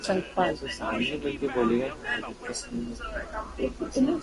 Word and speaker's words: Sankpal: ये अपना स्पेलिंग उनको यार ठीक तरह संकल्प बोलते हैं पाली पाली लिखा है ये उनको बोले मैम आई एम नॉट संकल्प आई एम संकपाल सामने मिलके बोलेगा तुम